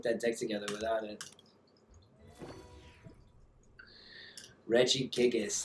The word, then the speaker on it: Regigigas: You need the Regigas? Dang, it's kind of tough to put that deck together without it. Regigigas, that's it. I never pronounce it right. I always say Regigas. No, it's Regigigas.